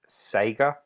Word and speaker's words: Sega: And once I had the Mega Drive, it's pronounced Sega.